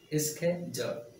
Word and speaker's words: schedule: Schedule. Schedule. Two syllables.